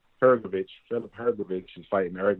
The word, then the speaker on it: Hrgović: Philip, how you pronounce his last name? Hrgović.